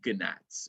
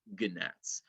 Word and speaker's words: gnats: them are gonna yes i know the g is silent but i like saying ganats because it should be said gnats also i like saying